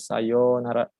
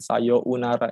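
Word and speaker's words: さようなら: Jadi baca itu sayonara tetap panjang, bukan sayonara gitu ya. Dibacanya panjang aja. O-nya dipanjangkan.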